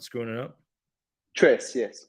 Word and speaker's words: Tres: Trace. Yes, correct. Trace.